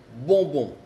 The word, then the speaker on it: bonbon: Por ejemplo, bonbon. Bonbon. Bonbon es dulce. Y ven, la letra que sigue es una B, entonces se escribe O-M-B, bonbon. Pero se escucha de la misma manera en los dos casos.